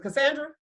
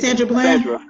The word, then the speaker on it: Sandra Bland: sisters plural because we knew, what was it, Cassandra? I say her name wrong. Jocelyn, you remember the one that went to jail? And she said, Sandra Bland.